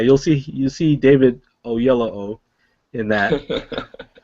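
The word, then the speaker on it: Oyelowo: pronounce his name now so it's David O yellow o o yellow o yeah and it kind of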